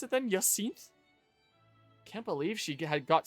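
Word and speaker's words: Jacinthe: Oh, the J is pronounced as Ya. So, Yakinth French language makes no sense since so Yakinth there says Yak has unleashed her furies unlike everything.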